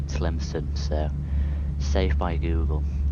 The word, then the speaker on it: Tlemcen: I was gonna say Tlemcen, but it's actually Tlemcen, so saved by Google.